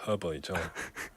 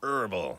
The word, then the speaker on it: herbal: Then in 북미에서는 이 H 없이 herbal tea라고 발음하고요. 영국에서는 herbal 이 H 있고.